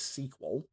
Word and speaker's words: SQL: my my sequel server I am told that the correct pronunciation of SQL is sequel oh is it yeah